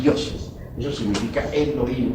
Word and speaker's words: Elohim: Eso significa Elohim, o mejor dijéramos Elohim, porque la H se pronuncia como J.